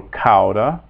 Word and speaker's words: cauda: A-U, A-U, makes the ow sound, so cauda, cauda.